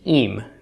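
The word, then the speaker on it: ים: Pronounced im.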